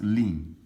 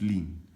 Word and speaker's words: ln: often write this as lin e or lin y equals x th this is pronounced as lin ln is pronounced as lean okay so the lindy